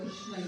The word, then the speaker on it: Krishna: Just like Krishna is 3-bed form, the word Krishna is also take 3 turns.